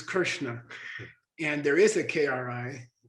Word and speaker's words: Krishna: And by the way, vocalic R, which is is often corrupted to re, like crit or Krishna, Krishna, for example, which is Krishna.